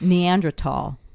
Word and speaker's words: Neanderthal: You know, just like the word Neanderthal is actually pronounced Neanderthal. It's not TH, it's Neanderthal.